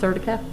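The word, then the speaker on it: Certica: purchase of the say that's pronounced surtica that's correct platform professional edition which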